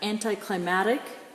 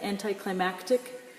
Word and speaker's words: anticlimactic: Then we have anticlimactic, sometimes said anticlimactic. The C might be silent, depending upon who's pronouncing it, but notice it comes from the root word climax.